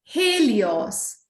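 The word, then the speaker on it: Helios: हेलियोस, ठीक है। हे आप बोलेंगे एच ई को हे, ली एल आई को ली, ऑस ओ एस को ऑस, हेलियोस, ठीक है, वेरी गुड।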